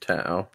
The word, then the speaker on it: Tao: ta along with a loot of other it's pronounced ta it's pronounced to uh and then so Ryan Ryan makes a